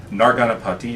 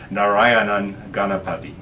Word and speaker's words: Narayanan Ganapati: Narganapati. It's actually Narani. I always mispronounce his name. Narayanan Ganapati.